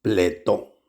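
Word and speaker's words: πλήθω: De nuevo, esta palabra llenos, la palabra es pletó.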